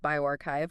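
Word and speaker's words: bioRxiv: It's a preprint just hit Biosaurf that's pronounced bioarchchive on April 16th.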